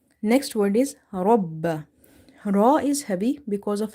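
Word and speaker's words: رَبَّ: So, again it means we have two bas here. One is silent or having sukun sign on top of it. And other one is having fatha. So, that's why we have to read ra ba fatha rabb ba fatha ba rabbah rabbah rabbah. Ra is heavy because of having fatha on top of it. And ba is twice, so we have to emphasize.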